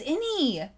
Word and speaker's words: Ini: name is any oh this is innie from the before like in it but well now you